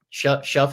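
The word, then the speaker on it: Shough: Shuff is how you pronounce it, right? I learned on Monday it's like shuck, like shuck and corn almost.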